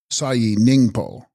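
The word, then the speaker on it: ས་ཡི་སྙིང་པོ: And text, Sahi Sningpo, pronounced Sayi Ningpo, Sanskrit Kitagarbha, womb or matrix of the earth.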